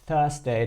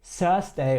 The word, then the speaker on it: Thursday: so, muss ich sagen, seine Aussprache hier gerade mit dem Wort Thursday, das war perfekt. Also das TH, er hat jetzt nicht Thursday oder so gesagt, wie es sehr viele